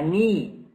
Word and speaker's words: knee: This is a knee. Okay. Pay attention to the K, guys. It is silent.